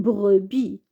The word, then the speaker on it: brebis: Une, brebis. On ne lit pas la lettre S. Une brebis.